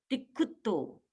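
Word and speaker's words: तिक्खुत्तो: अब इसमें 2 संयुक्त अक्षर आ गए, पहला क और ख है और दूसरा डबल त है।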